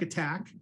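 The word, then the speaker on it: ATT&CK: And just so people are clear on that, all caps, ATT, ampersand or and sign, I should say, capital C, capital K, looks like attack. That's how you say it.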